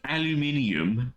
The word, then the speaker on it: aluminium: Just wondering, why are camping pots and pans made of aluminum? It's pronounced aluminium, and they didn't talk about that in any of the law books.